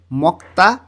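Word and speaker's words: 먹다: পিকচারের মাঝখানে লেখা আছে মক্তা খাওয়ায়ক এর পরে যখন দিউত আসে তখন দ টা ত এর মতন উচ্চারণ হয় মক্তা খাওয়া এই চারটা জিনিস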